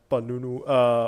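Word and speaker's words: Penunggu: Now we need to talk about the one thing people report seeing the most, because Karak Highway has The Panunu. Okay, how do I spell? It's spelled Penungu.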